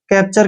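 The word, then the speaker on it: capture: इस बार अगले की तरह क्या सीए का 'K' का उच्चारण इसे करें। पी का उच्चारण 'प्या' और टीयू का उच्चारण यहाँ ' इसे च की तरह करो। . दोबारा। उच्चारण 'r' कब्जा। यह ठीक है। नहीं? सावधान रहने के लिए टीयू यहाँ मौजूद रहेगा। 'च' का उच्चारण इसे करना जरुरी है।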